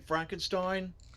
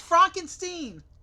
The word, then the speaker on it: Frankenstein: Don't you mean Frankenstein? It's Frankenstein.